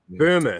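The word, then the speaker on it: Böhme: of that kind of stuff or however you pronounce it. Yeah, Burma.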